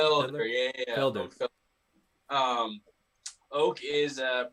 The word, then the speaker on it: Felder: a little bit of backstory on who Oak Fedler, right? Is that how you pronounce his last name? Felder, yeah.